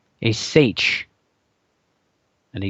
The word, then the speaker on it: seiche: and Loch Ness there are events called a seiche and a seiche if you want to look it up you